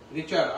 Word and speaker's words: Richter: Spelling रिच की लगाओ और टल लगा दो। रिचर, RICHTER।